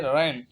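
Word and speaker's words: reign: यहाँ पे जी से एन से पहले जी आया है तो जी साइलेंट हो गया है। सेकंड है रैन, हुकूमत करना।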